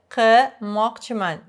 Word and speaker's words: qilmoqchiman: Sayr qilmoqchiman. Pay attention that I don't pronounce this L. In the area where I live, that's Tashkent. I don't really hear people saying qilmoqchiman. Qilmoqchiman. L sort of goes away.